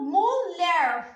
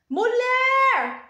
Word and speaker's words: mulher: eu faço para saber qual é a sílaba tônica da palavra mulher vou chamar mulher mulher qual que o som que saiu mais forte foi um ler então aqui eu sei que a última sílaba Então ela é oxítona